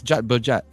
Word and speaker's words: jat berjat: And jat berjat, jat rhymes with gut, Jat berjat, like, oh my gosh, The peranjat.